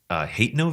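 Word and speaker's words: Hateno: to a villager in hat no village I've also heard it pronounced hate no village but I think it's hat no the way I read it but anyway he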